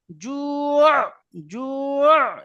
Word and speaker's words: جوع: জি সাকিন করে দেবেন, 1 আলিফ টান দেবেন, জু জু এইভাবে করে দেবেন, জু জি।